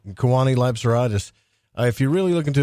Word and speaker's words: Kewaunee Lapseritis: But this guy, Kewaunee Lapseritis, I said his name wrong. Kewaunee Lapseritis.